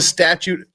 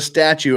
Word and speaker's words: statue: leave Maya with a statute of mar statute lawyers always mispronounce statue we just go straight to statute they intended to leave Maya with a statue of Mary to watch